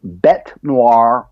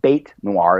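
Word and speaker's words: bête noire: to use is is bete noire or bate lar it's pronounced two different ways and it's simply a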